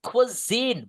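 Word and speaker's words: cuisine: This is quine. Bacanya gini nih. Que que s-nya itu suaranya kayak z gitu lebih tebal.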